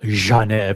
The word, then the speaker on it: Genève: I'll go to Houdinki here, where it says the iconic Universal Genève, and you have to pronounce it with that G, like Dr. Zhivago.